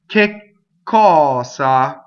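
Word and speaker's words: cosa: So ccɔsa, right? So double K, right? Because of the word, the word K is a strong monosyllable, and then there's a K to begin, a K sound to start ccɔsa, because it's an open, it's a hard C, right?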